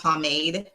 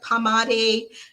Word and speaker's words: pomade: and it's called it's it's pronounced pomade because it's so funny when i hear you guys ask where you're like pamade pomade let me know in the comment how you pronounce have you pronounced the incorrect it's pomade so you just spray